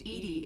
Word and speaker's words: EDI: why are you named edie is the phonetic pronunciation of edi that is an acronym for enhanced defense intelligence where are you my